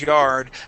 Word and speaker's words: yard: can't remember I think I think you had like an an eye sound in there saying like y um y yeah something like that y or whatever so yeah it is an R sound yard okay okay thank okay